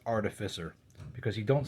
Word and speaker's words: Artificer: I just want to clarify that this word is pronounced Artificer. Because you don't say, instead of Artificer, which I hear a lot of people say, you don't say artificial, you say artificial. So it's Artificer.